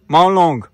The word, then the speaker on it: Mawlynnong: Welcome to the Asia cleanest village मॉलोंग, मॉलोंग, यस ऐसा ही pronounce करते हैं।